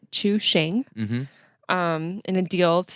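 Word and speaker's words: Chuxing: DD and I did figure out how to pronounce this it's to Shane mm-hmm in a deal to sell their China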